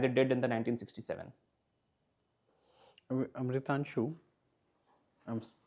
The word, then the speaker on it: Amritanshu: Amritanshu, I'm pronouncing your name right, no?